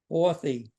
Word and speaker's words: Horthy: as an sh and the last name ory that's as that's as it's spelled nichlos is Hungarian is